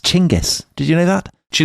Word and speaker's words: Genghis: And Dominic, as Peter Franopan, a cricketing compadre of mine would tell you, it's actually pronounced Chingis.